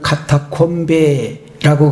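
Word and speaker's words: catacombe: 우리는 일반적으로 카타콤이다 그렇게 부르고 있는데, 이탈리아 사람들은 카타콤베라고 그렇게 발음하고 있는 것을 볼 수 있었습니다.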